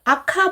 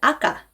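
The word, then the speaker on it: あか: 소리처럼 발음하면 됩니다 가옥 하지만 빨강 이란 뜻의 아카 아까 이 카가 중간에 나왔어요 끝에 나왔죠 그러면은 쌍 기억처럼 아카 보다는 아까 아까 이렇게 발음하는 것이 정합니다 이거 꼭 유의해주세요 그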